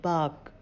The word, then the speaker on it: bark: आप देखेंगे कि इनमें से किसी में भी आर का उच्चारण नहीं हो रहा है। BARK बाक, HERD हर्ड, DIRT डट,